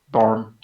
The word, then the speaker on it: Bjorn: Barn. Bjorn. J is silent. I know. Well done, dwarf names with their silent J's.